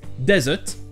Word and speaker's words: desert: Ensuite, vous aurez un désert qui se prononce desert et un dessert qui se prononce dessert. Et le verbe déserter se prononce de la même manière qu'un dessert, to desert.